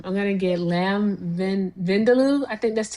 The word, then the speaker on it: vindaloo: I'm going to get either um I'm going to get lamb vindaloo. I think that's how you told me how to pronounce it.